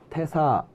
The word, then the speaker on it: 태사: 퇴사 아괄 노나라의 노나라의 태사 악하고 악에게 노나라 태사에게 음악에 대하여 말씀하셨다입니다이 태사는 이제 이렇게 대사라고 쓰였지만 대라고 써놓고 이제 테라고 읽는 경우들이 종종 있는데 이런 경우인데 퇴사라는 것은